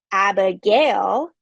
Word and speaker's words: Abigail: My own name, Abigail, which is 3 syllables, has a stress on the final syllable.